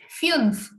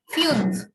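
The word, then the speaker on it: fünf: five is called fumes here we have the umlauts so it is fumes fuse then sex is called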